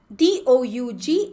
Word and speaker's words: Doug: D-O-U-G is pronounced as Doug.